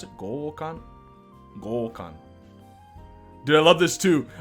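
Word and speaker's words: 強姦: of my seat holding my breath so anyway goal Khan that's how you pronounce it gokan do I love this too I oh boy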